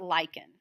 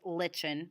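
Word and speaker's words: lichen: going to talk about lyen okay some of y'all might pronounce them Len but it's actually lyen okay lyen is actually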